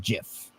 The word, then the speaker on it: GIF: Well, it's a soft G, even though the creator of it says that it's a hard G.